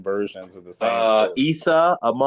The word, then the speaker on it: Isa: Isa in the Quran, he's Maryam Isa.